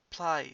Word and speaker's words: πλάι: This is πλάι σε, which is besides, not play se. The accent is not in the iota, it's on the alpha. So it's πλάι σε.